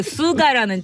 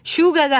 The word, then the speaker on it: SUGA: 그리고 이제 그 수가라는 친구가 있어요. 네. SUGA. 네. 근데 이게 이제 슈가가 아니라 수가인 거예요. 수가. R이 없고. 그래서 이거를 또 미국 애들이 이제 유튜브에 보면은 어떤 애가 슈가라니까 노노노 수가 이렇게 이제 고쳐주는 얘기도 예.